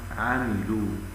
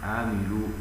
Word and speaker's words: عملوا: فإن الذين يرتلون القرآن فيخطئون في هذه الآيات مثل أن يفخموا لام عملوا، لام عملوا فينطقونها هكذا: وبشر الذين آمنوا وعملوا الصالحات، فيغلظون اللام والأصل استفالتها.